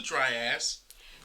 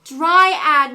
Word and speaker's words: dryad: know georgie but georgie what's a dry ass dry ad mom it's pronounced dryad right that's what the man